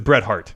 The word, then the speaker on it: Bret Hart: impression of that wrestler his name is Bret Hart his name rhymes with wet fart the Excellence of execution